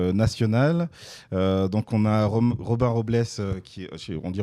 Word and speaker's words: Robles: Donc on a Robin Robles, on dit Robles, ouais. Ça se prononce comme ça, qui est producteur, Alison Chassagne